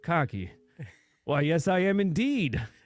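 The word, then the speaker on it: Cocchi: cardamaro Ros leur and coochie Americano he goes It's pronounced cocky well yes I am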